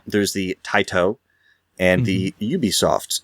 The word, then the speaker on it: Ubisoft: the Tio and the Ubisoft and that's how you say it Ubisoft is ridiculous and I don't know what you're doing when you say it like that well I think